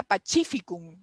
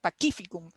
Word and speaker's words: Pacificum: Cuando estudiábamos latín, yo juraba que se decía Pacificum, como en italiano, pero aprendimos que la C se pronuncia como Q, ¿no? Pacificum, ¿no?